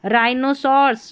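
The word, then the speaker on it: rhinoceros: राइनोसर्स।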